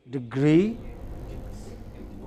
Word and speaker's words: degree: following a certain pattern which are stressed only on the final syllable can you give me some examples degree can you give me